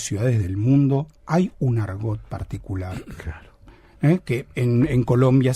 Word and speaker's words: argot: Un argot, lo digo en español, argot, sí. Por eso pronuncio la T, no lo digo en francés, pero la palabra está sacada de la palabra francesa argot, ¿no?